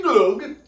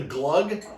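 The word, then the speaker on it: gløgg: also tonight we're making glug glug so chad told me it's pronounced like bug or drinking glug but it looks delicious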